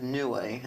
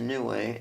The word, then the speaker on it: Niue: in um it's the island of neway in the south pacific it's spelled niue and the only way to get to new way unless you sail your